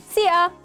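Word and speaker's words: szia: say sia hi see ya see ya the pronunciation might be the hardest part to master if you need some help try to say see ya but keep the vi silent repeat after me see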